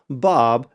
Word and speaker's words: Baab: So I want to make sure that the audience realizes that the title of your film is pronounced Bob, but it's actually spelled B A B.